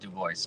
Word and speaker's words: DuBois: I say DuBois. I think it's been Americanized somewhere along the chain. I don't know. It's as far back as I know. It's just DuBois.